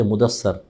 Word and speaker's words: مدثر: اگلی سورہ ہے مدثر۔ ہم مدثر اور مدثر بھی نہیں کہتے، مدثر، سا پہ زبر پڑھ دیتے ہیں، مزمل،